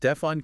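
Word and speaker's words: Stephon: Stefan Castle, pronounced Stefon Castle.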